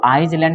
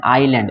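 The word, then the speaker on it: island: हैं यहां पे आयरलैंड इसको izeland नहीं पढ़ते हैं ना ही आइसलैंड पढ़ते हैं इसको क्या पढ़ते हैं आई लैंड सर में साइलेंट हो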